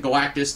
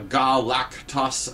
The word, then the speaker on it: Galactus: is coming uh and they don't pronounce it Galactus they pronounce it uh galactos uh I think is kind of what they were going for a more alien sounding pronunciation uh and uh at